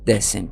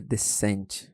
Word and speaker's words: Descent: Em 10º lugar, Amnesia: The Dark Descent. Na verdade é Descent, eu errei a pronúncia e eu continuo falando errado.